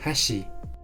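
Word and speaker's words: 箸: Por ejemplo, puente en japonés se pronuncia hashi, pero palillo chino se pronuncia hashi.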